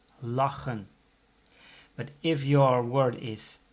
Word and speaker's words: lachen: If there's a double consonant or two consonants that are not the same, so for instance CH for the word laughing, that's lachen. CH, two consonants, so the pronunciation is A, lachen.